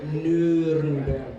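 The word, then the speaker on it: Nürnberg: this one E A then you can pronounce the name of my city nberg the story of the name of the city goes like this yeah nberg it was actually one sentence yeah the king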